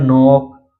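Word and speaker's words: knock: इसी तरह नोक, इसी तरह नी, नाइफ, नॉलेज, नीड, तो इन सभी वर्ड में आप देख सकते हैं यन से पहले के आया है इसलिए के साइलेंट है।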